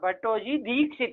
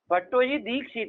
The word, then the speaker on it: भट्टोजी दीक्षित: तो मया का अर्थ क्या हो जाएगा, मया बराबर क्या लिखेंगे, हाँ भट्टोजी दीक्षित है ना, दीर्घ होता है, थोड़ा सही से बोलने का प्रयास करिए, उच्चारण गलत करते हैं सब लोग। भट्टोजी दीक्षित है ना, ठीक हुआ।